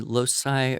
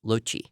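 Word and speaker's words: loci: uh where you yeah it depends how you want to pronounce your Latin but it could be Losi or Loi or Loki what did you call loai I probably used the pronunciation that I taught which would be Loi yeah okay l o c i but it basically means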